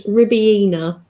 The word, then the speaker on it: Ribena: My pronunciation of it is Ribena.